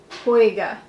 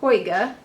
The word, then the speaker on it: Hoiga: I don't know how to pronounce it. Well, I guess it Hoiga.